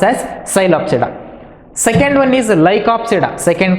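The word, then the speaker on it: Psilopsida: silent after they that's why it is uh pronounced as sylopsida second one is lycopsida second class is called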